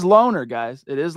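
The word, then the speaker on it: Lohner: Let's hear him say it himself. Check it out. I'm Caleb Loner. There you go. So it is Loner, guys. It is Loner, for what it's worth.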